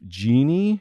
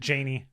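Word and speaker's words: Janie: paul f tompkins and his wife genie is that correct janey janey i'm sorry this is the only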